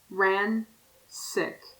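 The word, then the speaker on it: Ransik: always with his name ran sick i haven't written like rancid but with a with a k sound at the end the issue is i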